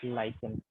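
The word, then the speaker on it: lichen: We will pronounce it एज लाइकेन, लाइकेन।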